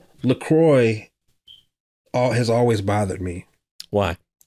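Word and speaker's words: LaCroix: family always pronounced it laqua or whatever and I always pronounced it lroy and I found out that it is uncultured swine it is actually pronounced lroy they tweeted no lroy rhymes with enjoy no it's laqua they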